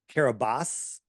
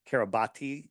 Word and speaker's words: Kiribati: And it said it was registered in Kiribati. Kiribati is how it's spelled, but Kiribati it's called.